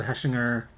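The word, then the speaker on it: Hechinger: um okay so uh craven the hunter fred heshinger i'll say it right this time reportedly cast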